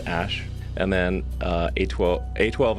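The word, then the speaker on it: Æ: explained the name's significance the AE is like pronounced Ash and then uh a12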